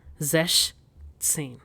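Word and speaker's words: sechzehn: So its pronunciation is zesh tsin.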